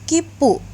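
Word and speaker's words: きっぷ: kecil, dan pu-nya besar, maka dia bacanya menjadi kipu, karena huruf tsu kecilnya merangkapkan huruf konsonan setelahnya, yaitu huruf p dari pu, maka kipu.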